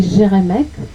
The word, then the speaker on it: Geremek: En France, on aimait bien l'appeler Geremek, puisque ça s'écrit avec un G.